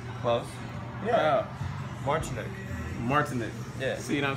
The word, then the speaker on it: Martyniouk: The Martyniouk, some shit.